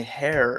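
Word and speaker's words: Herr: Ah, Gil on YouTube tells me hair is how you say mister in German.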